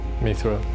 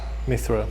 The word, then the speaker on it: mithril: Mithril. So now they're putting in their meteorite. Mithril. Mithril? Mithril? Mithril. What? No. Yeah. What are they putting in? It's called mithril or mithril, depending on how you pronounce it.